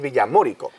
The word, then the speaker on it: Villamórico: a este pueblo llamado Villamorico. Que no, no es el acento en la O. De Villamorico. Eso iba a decir, de Villamorico es un pueblo árabe navarro, pero este es Villamorico.